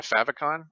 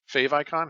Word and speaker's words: favicon: allow you to add a favicon or fave icon however you want to pronounce it to your website and